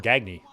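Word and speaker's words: Gagne: player in the 80s Greg gagy spelled the same way as Greg G but they call him gagy yeah they that is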